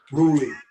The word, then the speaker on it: Roelly: It's pronounced Roelly. Roelly.